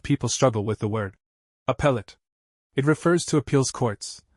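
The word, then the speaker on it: appellate: A lot of people struggle with the word appellet. It refers to appeals courts where lawyers challenge the outcomes of earlier trials. And yes, it's pronounced like appeal.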